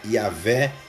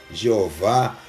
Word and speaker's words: YHWH: E em hebraico, YHWH, Yahvé, Jeová, Yahuwah, são algumas das prováveis pronúncias do nome de Jesus.